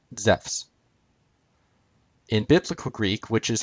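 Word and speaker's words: Ζεύς: accent is on soos zeus would have been pronounced the same way as it is in modern greek zephs in classical greek which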